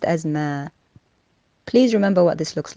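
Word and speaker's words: ما: Is the word that looks like a circle, linked to a dash, linked to a vertical line, and is pronounced as ma.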